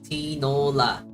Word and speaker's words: tinola: love soup so much tinola you said it right it's pronounced kind of like canola tool oh so it's like T it's literally tanola okay look at me trying